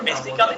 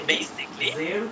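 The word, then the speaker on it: basically: example এই বল বেসিকলি আমরা বেসিক্যালি না বলে বলবো হচ্ছে বেসিকলি এর উচ্চারণ হয় জে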